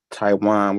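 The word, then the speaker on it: Tijuan: docket what's your first name again Mr Taiwan which is spelled t-i-j-u-a-n I was just a costume writer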